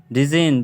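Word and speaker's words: design: होता है जैसे कि डिजाइन डिजाइन डिजाइन डिजाइन डिजाइन डिजाइन डिजाइन डिजाइन के अंदर में आप देख सकते हो जैसा कि एन से पहले आ जी एन से पहले आया जी साइलेंट होता है तो एन से जी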